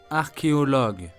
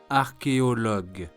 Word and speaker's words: archéologue: Word number 5 is archéologue, French for archaeologist. Once more, listen and repeat. Archéologue.